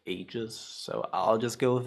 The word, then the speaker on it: Aegis: I I believe it's actually like English. In English, it's actually like ages.